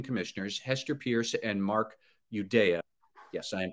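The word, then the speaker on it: Uyeda: the two Republican Commissioners Hester Pierce and Mark eudea yes I am pronouncing his name right Judea um they both said no they didn't want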